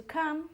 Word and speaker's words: come: Com is com, pero el verbo venir se pronuncia come.